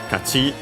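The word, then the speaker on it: 勝ち: Kachi should be accented on the last syllable, hopefully, so following the rules. Continuative form. Accented on the last syllable as per the rule.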